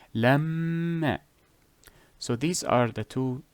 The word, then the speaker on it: لما: Another example for the meme, let us say لما. Lamma. That extra emphasis. Lam. That that is the ghunna. Lamma.